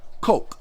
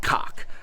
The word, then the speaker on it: kok: But from what Julie said, it's pronounced coke, like what we drink, COKE, but it's spelt KOK. That hump right there, yeah, it's called a coke, not cock.